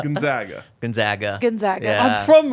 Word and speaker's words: Gonzaga: in the same region that's how you say it Gonzaga Gonzaga Gonzaga I'm from